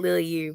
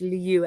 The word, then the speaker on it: Liluye: It took me forever to learn how to say it. So it's Liu. I used to call it Lily U, but it's Liu.